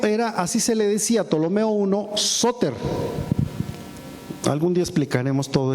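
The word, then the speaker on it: Ptolomeo: Tolomeo, pero no pues se pronuncia la P normalmente Tolomeo, vamos a decir.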